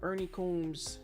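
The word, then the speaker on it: Ernie Coombs: Ernie Combmes if I'm not mistaken. That's how it's pronounced.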